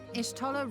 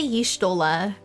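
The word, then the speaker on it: Y'shtola: Ishtola rule. I never pronounce her name right. I always say Yishtola. No matter how many times I hear it, I still go Yishtola.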